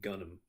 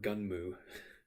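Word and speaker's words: Gunnm: in the original manga which is called gonna or gun mu depending on how you want to pronounce it it's a portmanteau of gun and the Japanese word for dream Elita is a very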